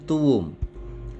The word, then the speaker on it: tuum: Nomen tuum. Ada kata tuum di sana, T-U-U-M. Cara membacanya di antara dua U seperti ada W kecil. Jadi tuum atau U-nya dipanjangkan.